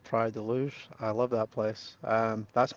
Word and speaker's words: Praia da Luz: It's Pride Deluge? Is that how I pronounce it?